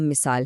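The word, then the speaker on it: muscle: इन सब में सी की कोई आवाज नहीं आती।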